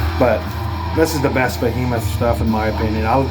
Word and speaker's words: Behemoth: ] it up because I always want to call this bathroom but it's not it's Behemoth and it's because of